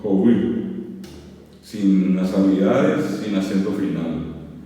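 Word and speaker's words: hovy: Y se escribe joui, se dice joui, perdón. Es H, O, B corta, Y.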